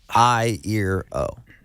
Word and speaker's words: Iero: a shirt that has like an eye and ear and an O and I was like